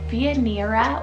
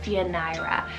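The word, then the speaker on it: Fioneira: name Fianira, spelled F-I-O-N-E-I-R-A, Fianira or Fianira. So really depends on how you want to pronounce this one.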